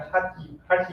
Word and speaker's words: Hatha: Then the third one comes is what you see all these days, the yoga, the Hatha yoga. So here mostly it's pronounced as Hatha yoga. Hatha.